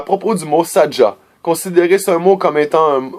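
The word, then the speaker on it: Sadga: Pour nous identifier dans le manuscrit, utilisez le mot Sadja, S-A-D-G-A. Vous prononcez Sadja, mais le vrai nom atlante est Sadja, avec un G.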